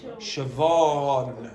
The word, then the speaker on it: Siobhan: Now, how do you pronounce that name? No? Siobhan.